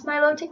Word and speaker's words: Milotic: I'm pretty sure it's pronounced Milotic. I have watched quite a bit of the anime. I'm pretty sure they pronounce it Milotic. Some people pronounce Milotic like melodic, or I think that's